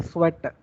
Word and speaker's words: Tswett: So in this name, or in his name, this T is silent. So we should not pronounce T. So we simply call it as Michael Sweat.